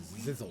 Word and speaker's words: Zizzle: I'll help and Zizzle, you will know you are heroes. whose name rhymes with sizzle.